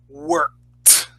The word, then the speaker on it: worked: pronunciation correctly it is if it ends with a k it gets a t sound don't worry i'll give you the point worked what all right good